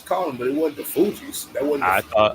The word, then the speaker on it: Fugees: It's the Fugees, not the Fugees.